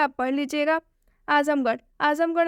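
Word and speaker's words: Azamgarh: आजमगढ़ जो शब्द है इसके अंत में आर एच आया है और ये एक जगह का नाम है इसलिए आर एच का उच्चारण ढ से हुआ है।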